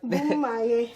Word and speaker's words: Bomaye: But first, I want to talk about Bomaye. Did I say it right? Yeah, you got it right. Bomaye.